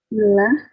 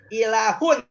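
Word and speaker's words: إله: Ilah. Jangan dibaca hi, jangan dibaca ha, tapi dibaca Ilah. doma. U, dan ada N-nya, tanwin. Gimana bacanya? Ilahu. Ilah. Ilahu. Ilahun.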